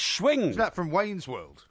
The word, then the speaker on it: Schwing: No, it's Schwing. Is that from Wayne's World? No, Raoul Schwing, and honestly, he's a researcher in birds, but his name is literally spelt S-C-H, and then wing, Schwing. right? That's wing.